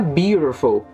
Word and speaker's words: beautiful: passado place in a beautiful a pronúncia the beautiful interessante o percebam que eu coloquei aqui embaixo Bio por um círculo bio Oi e o te aqui ele assume um som de R então vai ficar vai